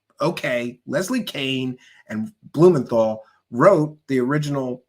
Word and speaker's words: Kean: The lady spells her name K EN. That's keen to me. But no, she wants people to say Kain cuz she wants to be different. Okay. Leslie Kaine and Blumenthal wrote the